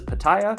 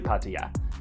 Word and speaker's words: Pattaya: Often mispronounced in English as Paya, but actually Patya.